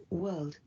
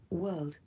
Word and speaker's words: world: World. World. World. World, it's a very tricky word as well. In this case, 88% got it right. It's as in first or fur.